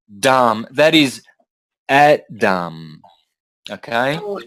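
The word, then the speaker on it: dhama: you don't pronounce the you don't pronounce the last a so you've got Dam that is Adam okay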